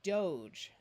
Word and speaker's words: doge: have this word here this e only has one letter between it and a vowel that means this e most of the time will be a silent E and make the vowel change to its long sound so this word would be Doge we don't end English